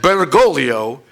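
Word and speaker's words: Bergoglio: Ral has pointed out that bergolo rhymes with the Italian word for Pride orolo I don't think it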